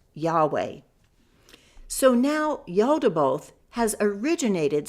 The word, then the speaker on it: Yahweh: But since an I equals a Y and a U equals a W, Yahu would be pronounced Yahweh.